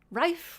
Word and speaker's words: Rife: Rife rhymes with life, yes.